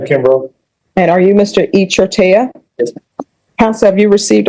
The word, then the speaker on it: Echartia: How do you pronounce it? Echartia.